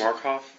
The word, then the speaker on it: Markoff: Would you pronounce and spell your last name, please? Markoff, M-A-R-K-O-F-F.